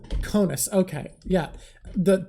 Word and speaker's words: Conis: Yeah, it's Conis. Conis, okay. Yeah. The name I was thinking of was also 2 syllables and started with a C, so I